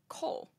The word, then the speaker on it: col: coal by the way c o l is how it's spelled coal it is the lowest